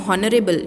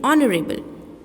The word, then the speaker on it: honorable: We are not saying honorable, we are saying honorable.